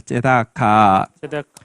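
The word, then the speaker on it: צדקה: 제다카.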